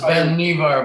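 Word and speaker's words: Vannevar: yeah this is um the life magazine um article by vanderbar bush that it's pronounced ben nevar by the way okay yeah and i think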